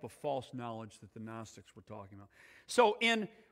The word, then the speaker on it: gnostics: week called the gnostics the gnostic gnostics only silent g the gnostics did not